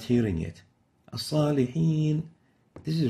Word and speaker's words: الصالحين: And this is wrong. This is sa. And the proper way of pronouncing it is like this. الصالحين As-salihin, not so, but sa. So you avoid pursing the lips upon pronouncing the sa.